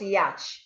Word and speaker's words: yacht: So the letter A here makes the sound up, and the CH is silent.